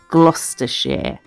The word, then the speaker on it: Gloucestershire: place on cooper's hill in gloucestershire which is pronounced gloucestershire um which is yeah it's a it's a